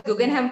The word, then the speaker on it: Guggenheim: Uh it's pronounced as Guggenheim Partners, right? Right, Guggenheim Partners.